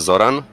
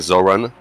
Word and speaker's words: Zoran: myself yeah it's uh if you're in Croatian like it's a Zoran but uh yeah in English it's everybody calls it like Zoran yeah but I don't